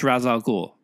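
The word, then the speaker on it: Ra's al Ghul: their most legendary encounters bat tangent how to pronounce razal ghul a question that has plagued batman fans for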